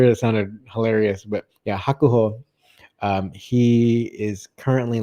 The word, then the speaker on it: Hakuho: to my ear it sounded hilarious but yeah hakuho um he is currently like the winningest catch